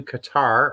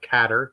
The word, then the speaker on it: Qatar: when I go to Qatar or katar depending on how you pronounce it in November it's the